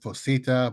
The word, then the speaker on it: PHOSITA: I pronounce it Fosita, but we usually just call it by its commonly long name, person holding ordinary skill in the art.